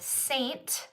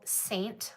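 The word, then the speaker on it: Seint: before let me know but Saint it's spelled with an E you can see it right here s-e-i-n-t it's still called Saint like um it's um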